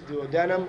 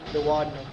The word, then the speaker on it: duodenum: Either one of those pronunciations, duodenum or duodenum.